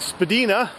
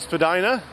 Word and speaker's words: Spadina: Spadina when it was first here was originally pronounced Spadina but most people these days pronounce it Spadina including myself so this whole area here as